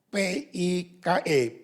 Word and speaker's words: pike: Ikan ini namanya ikan pike, tulisannya P-I-K-E, pike, tapi bacanya pike.